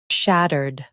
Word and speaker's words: shattered: In U.S., stress shat and keep erd soft. In UK, ud is lighter.